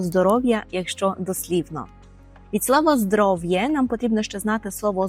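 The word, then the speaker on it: zdrowie: далі переходимо до слова здоров'я і польською це здоровє здоровє здоровє повторюємо здоровє наприклад онама добре здоров'є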